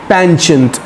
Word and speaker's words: penchant: PENCHANT, पेंचेंट. America जो बोलता है वो पेंचेंट ही बोलता है.